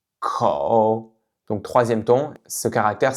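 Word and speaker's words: 口: On peut s'entraîner à prononcer donc le caractère suivant kǒu kǒu kǒu Donc troisième ton.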